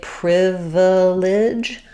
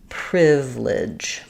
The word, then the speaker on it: privilege: It's not wrong for me to say privilege, but this is an example where the unstressed syllable in the middle is going to typically get very reduced, and we may say it more just like privilege.